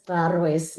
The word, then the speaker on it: Garoës: So the research in Gibeon, my surname is pronounced as Garoës. It's we speak with clicks.